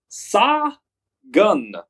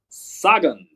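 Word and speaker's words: Sagan: three time world champ Peter pita SI gan pronounced saw gun saggin peta saggin knots again don't go calling him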